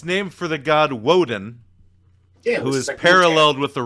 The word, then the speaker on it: Woden: is he what pants he honestly it's not woton it's woden yeah walden what's pantheon is he from that's